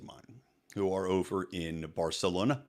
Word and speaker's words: Barcelona: who are over in Barcelona barcalona if you want to say it right barthelona and also Portugal which